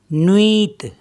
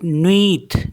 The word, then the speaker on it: nuit: For example जैसे NUIT है, तो इसको पढ़ेंगे हम नुईत। V, क्योंकि UI को V पढ़ते ना, तो नुईत।